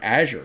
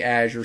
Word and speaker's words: Azure: Some of them say Azure, some of them call it Azure, some of them call it Azure.